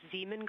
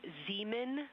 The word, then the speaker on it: Zeeman: Integrity science, we believe that's Zeeman crater. Oh, I floated away from the speaker. Say it again, please. We believe that that is Zeeman crater. Zeeman, okay.